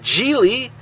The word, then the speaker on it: Gigli: Okay, folks, first off, let's start off with Gigli. Yes, it rhymes with really.